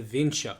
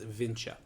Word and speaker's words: Vinča: There's an accent over the C, so I believe it's Vinča. Or Vinca, excuse me, or Vinča, excuse me. That's the one I think is the correct pronunciation.